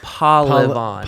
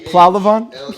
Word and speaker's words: Pahlevan: Pahlevan? P- P-A-H. Yeah. Oh, that's a silent H in there.